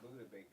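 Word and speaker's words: Budda Baker: Buddha Baker. Is it Buddha? Yeah. Buddha Baker.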